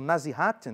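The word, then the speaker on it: nasihat: Aliás, antes o nazihat, né? Na zirat se escreve n a s i h a t nazi.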